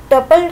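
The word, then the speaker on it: tuple: तो टपल की हमारे पास, या टुपल, दोनों इसकी प्रोनाउंसिएशन है।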